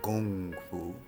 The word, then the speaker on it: kung fu: idea the concepts of my Kong Fu comes or gong Fu if we really really want to say it correctly like my teacher who